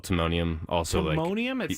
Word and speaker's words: Timonium: titanium town or what is it aluminum it's Timonium I can spell iton t t i m o n IU